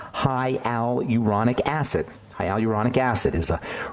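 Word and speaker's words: hyaluronic: slowly because it's somewhat hard to produce to pronounce hialuronic acid hialuronic acid is a really important ingredient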